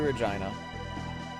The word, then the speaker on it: Regina: ever has gone through Regina the city that rhymes with fun all right conveyor skip